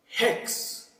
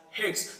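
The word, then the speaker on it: ἕξ: This will pronounce as hex. This will pronounce as hex. So wherever there is a rough breathing mark, the pronunciation of H will be added.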